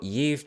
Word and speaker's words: gift: a fun word so ye it's not pronounced gift like it looks but ye means poisonous and it